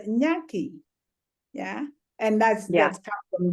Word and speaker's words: Nyaki: The last name, Nike? Nyaki. Did I say it right? Nike. So Nyaki.